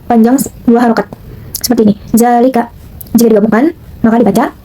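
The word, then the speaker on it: ذَٰلِكَ: Selanjutnya ada zalika. Hukum tajidnya yaitu matabii karena terdapat zal bertemu dengan alif yang dibuang itu.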